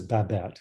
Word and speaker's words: Babette: say it again uh her first name is babat which is really cool um rothschild r-o-t-h i've